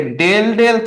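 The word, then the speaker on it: ∂: কখনো যদি ডির বদলে ডেল ডেল থাকে ডেল ডেল এই অপারেটরটা এটাকে আমরা বলি হচ্ছে উচ্চারণ করি হচ্ছে ডেল ডেল এই অপারেটরটা যদি থাকে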